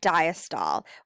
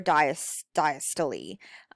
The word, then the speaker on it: diastole: through the actual heart okay so we have systole and we have diastole or diastole it all kind of depends on who you talk to um what you're going to learn how to pronounce it but the top is systole this is the contraction of the heart so this is that squeezing mrs ritter was like think of a cyst which a cyst is